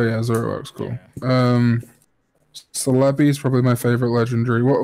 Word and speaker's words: Celebi: Celebi Celebi ya know I'm how you pronounce it or what no it's Celebi because in Japanese it said he'd be so